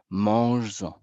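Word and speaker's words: manges-en: prononciation Z et donc pour garder cette même prononciation je vais devoir ajouter ici un S et à ce moment j'ai mange donc je respecte la musicalité prenden mais en mangeen donc ce S n'est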